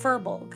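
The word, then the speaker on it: Firbolg: How do you spell that? Uh, f I R B O L G. Furbulk.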